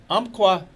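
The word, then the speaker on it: Umpqua: And Marty Dickinson is here from Umqua Bank. Nice job in the pronouncing of that.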